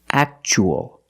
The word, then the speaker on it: actual: as a second syllable so the t is pronounced chch actual actual means real and you